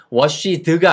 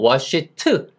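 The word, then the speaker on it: washed: 같은 소리인 트 발음 그래서 워시드가 아니고 워시트 잇 트와이스는 두 번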